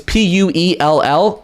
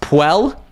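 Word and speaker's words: Puell: indicator it's it's pronounced it's p-u-e-l-l so i would say it's pronounced puel i could be pronouncing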